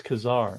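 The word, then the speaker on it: Ka-Zar: great in Russian it's Kazar all right John says emphasis on the first syllable all right short a sound oh man now it's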